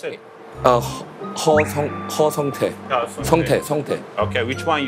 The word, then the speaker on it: 허성태: How do I pronounce it? Ho Songtae.